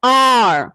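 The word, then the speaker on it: hour: It is pronounced as R. Here, H is silent.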